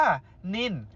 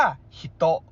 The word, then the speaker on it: 人: เส้น คำ 2 แบบ แบบ จีน อ่าน ว่า นิน และ จิน นะ ครับ ผม แบบ ญี่ปุ่น อ่าน ว่า ฮิตโตะ หรือ บิโตะ นะ ครับ ผม เทคนิค การ